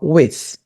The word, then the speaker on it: with: Aqui eu queria que vocês praticassem essa pronúncia, pessoal, with. Sim, a gente tem que fazer essa língua aqui no meio dos dentes, tá? É o TH, with.